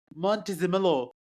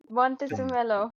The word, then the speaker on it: Montezemolo: If Luca can It really pronounce came Vish's up. name, I'll call it even. Yeah. Luca di Exactly. Montezemolo. Montezemelo.